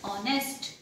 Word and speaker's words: honest: So first word which you are going to write is honest. H-O-N-E-S-T, honest. Students, I have heard few students reading it honest. Here H sound will not come. H is silent here.